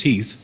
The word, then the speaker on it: Heath: my name is Keith last name is Heath it rhymes still under the anesthesia